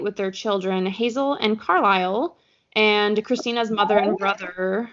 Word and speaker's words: Carlisle: I was like 12, I did not realize that Carlisle was a name, and I read it as Carlisle. So that's how it's spelled. And no one in my 12-year-old friend group knew that it was Carlisle.